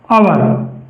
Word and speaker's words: और: तो जैसे जैसे शब्द है हमारे पास और और का हिंदी उच्चारण होगा अवर और ऐसे ही दूसरा शब्द है हमारे पास औरत इसका हिंदी उच्चारण होगा आवरत।